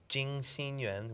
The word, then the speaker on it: Jing Xin Yuan: Jing Xin Yuan, which means Garden of Pure Heart. So it's spelled in Chinese pinyin, J-I-N-G, J-I-N-G, X-I-N, Y-U-A-N,